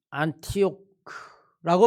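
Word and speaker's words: Antioch: 본문 말씀에 등장하는 안디옥입니다 안디옥은 우리들의 발음이고 영어 발음은 안티오크라고 발음하기도 하고 또 안타키아 라틴어나 헬라어에 의해서 발음이 조금 조금씩 달라지지만 이 안디옥이라고 이야기하면 초대교의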